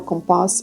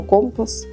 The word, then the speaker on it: Компас: саме про книжку видавництво компас і я вірно ставлю наголос тому що з іспанської це означає ритм але я гадаю що якщо ви назвете його Компас як дороговказ то це буде правильним рішенням тому що я просто